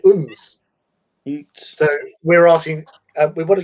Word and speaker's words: Odense: or Odense. Like we pronounce it Odense, Odense sort of thing, which is one of a big city sort of thing. But the Danish call it Uns.